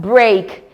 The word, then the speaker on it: break: board again we have in the word break e a sounding a we have great blame